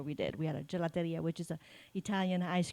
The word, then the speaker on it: gelateria: your grandparents galaria how do you say that gelateria actually Gia um my mom and dad had